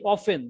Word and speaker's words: often: আবার এই অফেন দেখলে মনে হবে অফটেন, কিন্তু উচ্চারণটা হবে Often. অফেন। Often. আবার এইখানে দেখলাম যে টল্ক মনে হয় যে টি এল কে টল্ক, কিন্তু এখানে আসলে Talk.